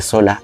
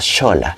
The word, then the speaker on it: Xola: al parecer muchos fueron cambiando la pronunciación de sola a xola y la palma se